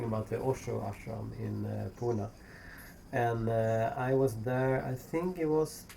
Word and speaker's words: Pune: I guess the pronunciation when you look at the spelling is like Pune, but most people I know say Pune.